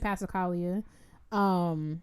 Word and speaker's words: Passacaglia: I don't pronounce the G. The Halverson Passacaglia.